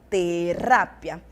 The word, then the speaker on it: terapia: personagem que estava doente terapia no português ter no espanhol terápia e aí o nosso